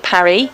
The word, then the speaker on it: Paris: localities method of pronunciation the french call it parry why do we rename it paris it depends doesn't it